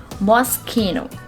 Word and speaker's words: Moschino: mostchino moschino in real the correct pronunciation of this word is mosquino moschino the sound of ch in this word is not pronounced as j it's not moschino the sound of ch becomes k so the word